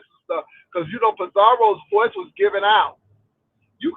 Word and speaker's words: Pizarro: De Miss O to um talk to Pizar roll. As that lady said, Pizario. I'm like, where you get all of these extra syllables? It's Pizarro.